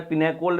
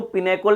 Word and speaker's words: pinacol: पाइनकोड पाइनकोड on rearrangement दो तरीके से इसको पुकार जाता है इसको प्रोनाउंस किया जाता है पायनिकोल रिअरेंजमेंट भी कहते थे एडरवाइज आप इसको पिनेकल पिनोुलर रिअरेंजमेंट भी का सकते हो ये रिएक्शन हम पढ़ेंगे